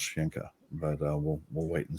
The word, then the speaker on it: Sencha: shinka because uh my my name is spelled s-e-n-c-h-a but it's uh the gaelic is pronounced shinka and a lot of